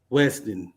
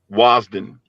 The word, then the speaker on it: Wasden: by the name of Howard Weston. Did I pronounce that right, brother? Wasden. Yeah, Howard Wasden.